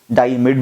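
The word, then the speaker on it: diimide: जानते हैं ये NH डबल बॉन्ड NH को हम लोग क्या कहते हैं, हम इसे कहते हैं डाई आइमाइड. इमीड भी बहुत सारे लोग प्रोनाउंस करते हैं, डाई इमीड भी बोल सकते हैं.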